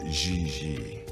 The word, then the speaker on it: Gigi: g like j and j like g she may very well be jj in america but in france she is gigi how well does she